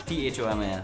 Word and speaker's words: Thomas: He's John Thomas, THOMAS. Yes. Thomas. Yeah. The H is silent for some strange reason.